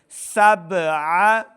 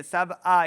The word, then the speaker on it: سبع: قلقلہ ظاہر کریں گے۔ سبع عین کو صحیح تلفظ کے ساتھ پڑھنا ہے، حمزہ کی آواز نہیں آنی چاہیے، سبع یہ حمزہ کی آواز ہے۔ سبع سبع خلق اللہ